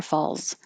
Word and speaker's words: falls: like an s but if you're just saying it by itself niagara falls you should have more of a z noise slips the one i